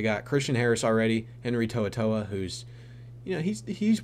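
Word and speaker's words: To'oTo'o: coming out of college I thought his name was like tooto or something but it's tooa it's spelled crazy like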